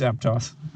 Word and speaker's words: Aptos: It's Aptos. Rhymes with fog.